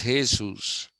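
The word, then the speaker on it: Jesús: Okay, and the Spanish and Portuguese people call him Jesus. Okay, they pronounce J as Ha. So it is Jesus.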